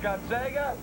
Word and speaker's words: Gonzaga: It's pronounced Gonzega.